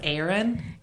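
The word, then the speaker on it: Aryn: So the main culprit her name is Aaron. Aaron. And I say her name is Aaron because it's spelled A a R Y N.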